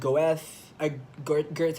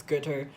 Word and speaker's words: Goethe: I read Goethe. I mean, sorry, I mispronounced it. It's Goethe.